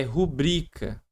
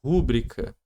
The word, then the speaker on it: rubrica: É rubrica, não é rúbrica. A galera fala muito rúbrica. Se fosse rúbrica aqui teria que ter um acento, porque toda é proparoxítona é acentuada e não tem.